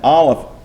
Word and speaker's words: aleph: And if you will notice, I have no equivalent to aleph because it's a silent letter in Hebrew.